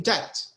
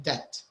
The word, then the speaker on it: debt: uh to be in debt that by the way the b the b is silent here to be in debt what do you think